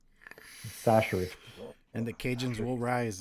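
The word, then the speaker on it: Chachere: Tony Sasser. Okay. Remember, if you say it any other way, you're doing it wrong. Sasser.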